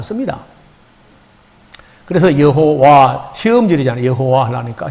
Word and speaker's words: 여호와: 모음을 야로 힘들다고 그래서 야외 같으면 첫음이 야화가 되기 때문에 그렇게 대해서 리가 없다 하는 생각이 들고 또 여호세바 여호수아 여호사부학 여호아난 여호와하스 여호야긴 여호락 이렇게 여호라는 것을 그 예사로 사용한 것을 볼 때 발음을 하나님의 이름을 2인칭 호격으로 여호와 이렇게 부르지는 않았지만은 발음이 여호와가 맞다는 생각을 할 수 있다는 거예요 그리고 거기에 여호와라는 밑에